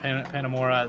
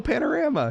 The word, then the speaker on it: Panorama: You were gonna say it right the first time, and then you corrected yourself wrong. Really? Yes. Panamora? No, Panorama. You said Panorama.